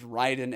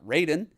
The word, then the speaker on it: Raiden: by the way, that was when I found out it's pronounced Raiden and not Raiden. Fuck me.